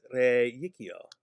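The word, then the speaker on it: reicio: They are spelled with only one I, but they have a hidden Y sound in them. Because ab yakio gives us ab yikio. Re yakio gives us re yikio.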